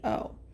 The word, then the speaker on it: Jurado: It's called Cloudy Shoes by Damien Jurado, I think is how you say it. It's Jurado. Um, and so there's a couple of messages that I got with that energy.